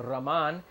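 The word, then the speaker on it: роман: eye Roman well accident the accidents on the last syllable so you know you have to say Oh Rahman and the Rahman means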